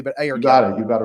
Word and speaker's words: Ayurcann: I never remember if I'm pronouncing that correctly, but Ayurcann. You got it right. Ayurcann.